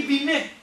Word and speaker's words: Binet: teorema teorema de binet isso não é binet não binet é pros íntimos a galera de fora chama de binet certo porque em francês a gente não pronuncia ali geralmente a última a última letrinha né então um teorema